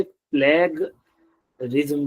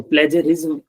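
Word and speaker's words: plagiarism: से प्लेज रिम तो कुछ लोग इसे प्लग रिम बोलते हैं प्लग रिम तो यह वाला उच्चारण गलत है इसका और इसका सही उतर उत्तर ग की जगह ज है शब्द तो प्लेज बोला जाना इसको बिल्कुल सही है और मैं भी पहले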